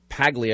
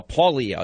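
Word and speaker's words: Paglia: introducing me to uh I've always said Camille pagle it's Camille uh paulia is the actual pronunciation of this and her life her background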